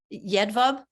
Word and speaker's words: Jedwab: So, and I'm terrible with pronunciation. So is Jedwab related? Jedwab?